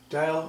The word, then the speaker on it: Diehl: old and very rare this is an old dial ordeal di e HL it is how it's pronounced just so the name is he dial electro kitchen clock or desk clock this thing